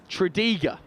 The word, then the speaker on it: Tredegar: I've just been told from down on the touchline that I've been pronouncing the winning school, their name wrong. Tredegar from Abergavenny.